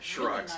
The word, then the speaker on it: Shrock: They did have a Shrock's really nice car. Yeah. It rhymes with Turok. Shrock. Turok and Shrock.